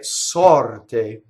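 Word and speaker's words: sorte: The stress is on the O, right? Sɔrte, right? The te is unaccented.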